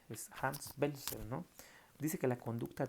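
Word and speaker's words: Welzel: Acuérdense, se escribe como Belzel, pero se pronuncia con W, pero se pronuncia con V. Es Hans Belzel, ¿no?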